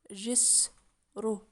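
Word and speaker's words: جسر: Jis, ru. There's no vowel for the sin. Sukun. It means bridge. How do you read it? Jis, sukun for the sin. Ru, ra, dhamma. Jis, ru. Alright, another word.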